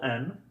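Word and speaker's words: Н: our false friends is the letter N now n looks like this when typed and printed as you can see it looks like the English H however it makes the sound like the English N and the cursive versions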